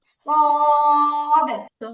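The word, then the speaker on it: صاد: কি বলা যায় চিকন বলা যায় তুলনামূলক চিকন সদের উচ্চারণটা হচ্ছে সিনের চেয়ে মোটা সিন হচ্ছে তুলনামূলক চিকন উচ্চারণ তার সদ হচ্ছে কি মোটা উচ্চারণ এবার দুইটাকে দুইটা যেহেতু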